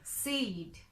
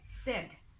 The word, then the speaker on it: said: অ্যান্ড এখানে আরেকটা কথা বলি, অনেকেই SAID এটা উচ্চারণ করে সেইড, সেইড, হি সেইড, শি সেইড, বাট এটা আসলে সেইড না, এটা হচ্ছে সেড, শুধু সেড। হি সেড অর শি সেড, নট সেইড।